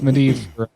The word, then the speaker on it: Medivh: Yeah, or and it's Medivh for mage.